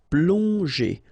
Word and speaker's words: plonger: Okay, remember that here you've got these two letters, so pl together, on, plong, and then g and normally that's the sound j. Okay, so here you get, obviously, as usual, the ending er, so you pronounce it e. So plonger, plonger.